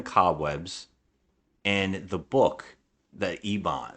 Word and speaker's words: Eibon: is covered in cobwebs and the book The Ebon it's it's e-i-b-o-n is how you spell it and they they find that and she's